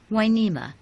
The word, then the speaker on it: Hueneme: the name back to the Spanish version winema spelled with an H and u to make the W sound the wharf brought life to the sleepy village of winema as it was still